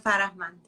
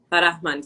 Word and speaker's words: Farahmand: I don't think it's going to be better than you, but Farahmand, yeah. Farahmand, so you pronounce the H. Farahmand.